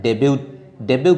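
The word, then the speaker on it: debut: डेब्यू कर रहा है। डेब्यू का स्पेलिंग ये है, टी साइलेंट रहता है।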